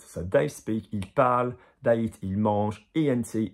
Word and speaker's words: parlent: And then you come across ANT, and ENT is silent, silent.